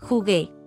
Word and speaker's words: jugué: Jugué. Jugaste. Jugó. Jugó. Notice there's a change in the yo form from G to GU before E to preserve the hard G or G sound.